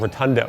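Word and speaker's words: rotundone: This unusual characteristic comes from an aroma compound called Rotundo, and it's spelled like rotund one, pushed together.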